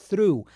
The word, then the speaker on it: through: A pronúncia tem que colocar a língua entre os dentes e soltar um R depois, ó, through.